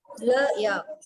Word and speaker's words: yaourt: Le yaourt. Le yaourt. Here you will pronounce till the end, till T. Le yaourt.